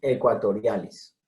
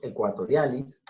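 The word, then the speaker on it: aequatorialis: El momotus equatorialis. Ecuador viene de aequator, que no pronunciaban los latinos ecuator, sino ecuator. Entonces, A con E, siempre E. Momotus equatorialis.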